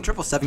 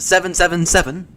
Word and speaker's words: 777: No, it's a Boeing trip 7, you dumb pieces of It's not pronounced 777. You don't hear the Boeing going out and saying it's a 777. You don't hear any pilots call it a 777.